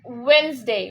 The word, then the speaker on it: Wednesday: Okay, the next word here, people say Wednesday or Wednesday. People say that, but it's Wednesday. What is that? Wednesday. Wednesday. Yeah, the D is cancelled and it comes Wednesday.